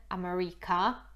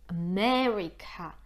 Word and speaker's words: America: akcent po polsku Ameryka, a po angielsku mamy akcent na me, America.